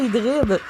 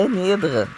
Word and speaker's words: anhydre: Je pensais que c'était hydride. Mais non, regarde, c'est anhydre. J'ai toujours dit hydride, c'est comme hydrique. Je pensais au réseau hydrique. Mais non, c'est anhydre. C'est de l'eau.